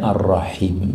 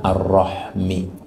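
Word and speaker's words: ar-rahim: yang menyambungkan rahim silaturahim Jadi Bu bacanya arrahim ya Jangan arrahmi Kalau arrahmi itu sakit perut waktu melahirkan itu rahm wallahuam Tapi kalau rahim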